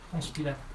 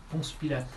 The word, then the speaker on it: Ponce Pilate: Ponce Pilate. Huh? Ponce Pilate. Ponce Pilate.